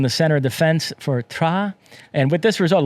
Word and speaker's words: Troyes: And if I didn't sound pretentious enough, I'm going to pronounce that team again. It's Troyes.